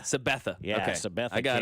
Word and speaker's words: Sabetha: Sabetha. Sabetha.